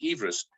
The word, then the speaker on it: Everest: hint from george everest i gather correct pronunciation is everest measured the repeated these